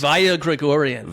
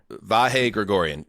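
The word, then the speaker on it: Vahe Gregorian: So there's this guy V Gregorian. I hope I'm pronouncing his Va Gregorian. Va Gregorian. Vah. Vah Gregorian.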